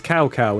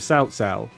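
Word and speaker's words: Cao Cao: I remember when he was Cow Cow instead of Sao Sao.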